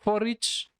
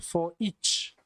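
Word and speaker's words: foreach: is called for each so that's not for reach so you pronounce it as for each for each so let's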